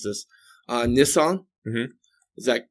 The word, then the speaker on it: Nisan: That there's a lunar New Year that happens in again, forgive me if I mispronounce this, Nisan.